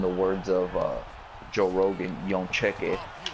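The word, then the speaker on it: Jędrzejczyk: words of Joe Rogan, Jedrzejczyk. But I'm gonna pronounce it the right way because I actually know how to pronounce it. It's Joanna Jedrzejczyk. She went on to, Jedrzejczyk.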